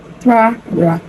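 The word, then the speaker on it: Trara: be talking about is the Tra-Ra. T-R-A-R-A, right? I used to call it Tara before. I used to omit that R. I used to actually think it was Tara, but it's actually spelled T-R-A-R-A, okay?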